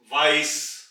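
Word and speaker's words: weiß: कर देंगे, वासर, वे, वाइस, वाइस। और ये है बीटा यानी कि सेट, इसमें डबल एस की साउंड निकलेगी, वाइस यानी कि कलर वाइट, सफेद रंग।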